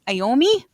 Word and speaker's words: Iommi: Is it Tommy Iommi? Iommi? How am I supposed to? Yeah. That's right. Tony Iommi.